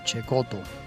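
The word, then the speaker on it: Cecotto: Bueno, naturalmente, como lo denota claramente su apellido, Cheekoto, que se escribe secoto con doble T.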